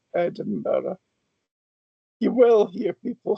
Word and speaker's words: Edinburgh: Edinra or Edin bre doesn't make much difference to your ears or A is better at the end. It's an H sound, right? Edinburgh.